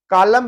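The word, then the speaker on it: column: कॉलम है तो यहाँ पे कॉलम एन साइलेंट है।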